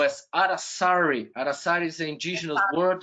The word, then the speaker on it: Aracari: Aracari, am I saying it right? Aracari? Aracari, yes.